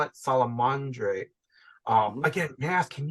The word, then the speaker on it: Salamandre: Again, so I know I call it Salamandre. Again, may I ask, can you pronounce the French version again? The French, Salamandre.